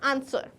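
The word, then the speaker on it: answer: हम बोलते हैं क्या आंसर बिल्कुल ऐसे ही लगता है पर लिखना कैसे है आंसर की करेक्ट स्पेलिंग होती है साइलेंट लेटर जो की बोला नहीं जाता पर लिखा जाता है तो हम यहां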